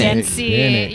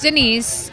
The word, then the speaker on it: Denyc: Dency. Denyc. People Dency. just love to pronounce Wow.